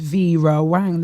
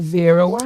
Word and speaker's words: Vera Wang: No, no one says Vra Wang. They call it Vera Wang. You put it in mas are on the wrong syllables. We don't we don't put all them emperra. Vera. Yeah, but you don't. It's not vra. It's vera.